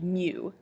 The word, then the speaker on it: mu: That letter is a Greek letter, and it's pronounced mu. It's pronounced like if you'd spell it, it'd be M-E-W, but it's pronounced mu, and it is